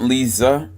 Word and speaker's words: Lisa: My Aunt Lisa, pronounced with the Z sound, was pregnant again.